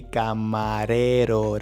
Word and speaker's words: camarero: that we need to position the tongue in front of your teeth and just place it soft and going forward. So, it will be camarero.